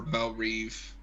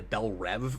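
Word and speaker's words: Belle Reve: it doesn't look right at least they pronounce it right that drives me crazy in DCU when it turned into Bell rev for some reason it's the only thing that's ever pronounced it like that I'm like stop it no see in this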